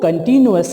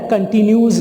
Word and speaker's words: continuous: यहाँ पे एक थोड़ी सी मैं आपको करेक्शन करता चलूँ, बहुत सारे लोग इसको गलत प्रोनाउंस करते हैं, हालांकि इसकी सही प्रोनाउंसिएशन जो है वो कंटिन्यूअस है, कंटिन्यूज़ नहीं है।